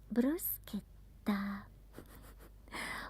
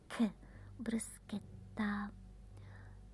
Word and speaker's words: bruschetta: Bruschetta. When you see C and H, it's like a K. Bruschetta.